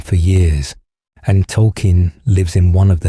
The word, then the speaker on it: Tolkien: In recent seasons, the show revealed his name is actually Tolkien, named after J.R.R. Tolkien, and that everyone had been mispronouncing it as token all along.